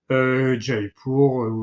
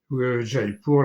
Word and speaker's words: Jaipur: Bon, alors maintenant on dit pour, puisque je l'ai dit tout à l'heure, il prononce plus le dernier A, Jaipur, Udaipur, etc. C'est Jaipur, la ville des Jains, Udaipur, je ne sais pas.